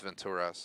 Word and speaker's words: Venturas: the tour video on the strip in los venturas i like to call it las vegas but it's venturas as i heard in the game pronounced so been mispronouncing that for two decades